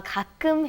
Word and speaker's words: 가끔: 가끔 해요. Do you want to try that pronunciation? Be careful of the 가끔, okay? 가끔 해요. Good. 가끔 해요.